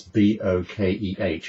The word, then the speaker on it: bokeh: That's B-O-K-E-H. Everybody wonders how to say it. It's bokeh, trust me.